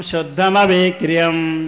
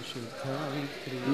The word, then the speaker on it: शुद्धमविक्रियम्: जोर से, नित्यं शुद्धमविक्रियम्, नित्यं शुद्धाविक्रियं, नित्यं शुद्धमविक्रियम्। नित्यं शुद्धाविक्रियं, नहीं बोलते सब बोलो, नित्यं शुद्धमविक्रियम्।